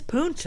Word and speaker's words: Punta: All right, so our story begins in Punta Gorda, Florida, but Keith calls it Punta Gorda. They were new to Punta Gorda. What do you think? He does call it Punta. It is Punta.